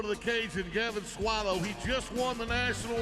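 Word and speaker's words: Soileau: in 2020 Gavin swallow swallow that's how they say it in the Cajun Country but he's going to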